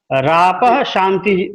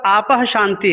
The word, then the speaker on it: आपः शांति: पृथ्वी शांति के बाद आपः शांति है, चूंकि वहां पर विसर्ग है इसलिए वहां पर रेप भी ऊपर में है, ठीक, लेकिन उसका उच्चारण नहीं होना है, अलग अलग, जब वो संयुक्ताक्षर है, यदि जब हम अलग अलग उच्चारण करेंगे तो पृथ्वी शांति और आपः शांति बोलते हैं, है ना, रापः शांति नहीं बोलते हैं, इसलिए इसको ठीक कर लेंगे।